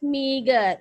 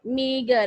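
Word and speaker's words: meagre: Meager means meager. Meager. What is the pronunciation of M-E-A-G-R-E? Yes, meager.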